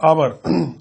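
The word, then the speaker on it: hour: Sound जो है vowel है, ऑनेस्ट, अ से उच्चारण हो रहा है, तो इसलिए इसके पहले इन लिखेंगे। उसी तरह आवर, आवर जो है एच से शुरू हो रहा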